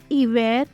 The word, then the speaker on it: hiver: Words which begin with a silent H. Homme, hôte, hiver, hôtel, horloge.